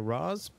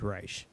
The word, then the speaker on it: Raish: CrossFit, and he wanted to know, was it pronounced Raish or Raz? The technical actual pronunciation is Raish. Yeah. I have looked that up. It is Raish.